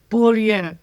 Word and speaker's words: Beaulieu: And I'd actually prefer if you could pronounce it the way it should be pronounced. Beaulieu, which For means those who don't know, there it is.